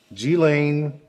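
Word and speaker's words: Ghislaine: hilarious i pronounced her name correctly g-lane maxwell is now in federal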